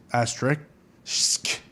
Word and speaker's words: asterisk: to get into this asterisk asterisk no asterisk asterisk boom okay risk asterisk that's two hours it's a good way to remember how to say it yeah yeah you're right